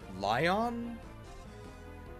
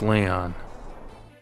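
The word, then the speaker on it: Lyon: more than that Prince lion I think it's lion how do you pronounce this that's Leon it's Leon Prince Leon has been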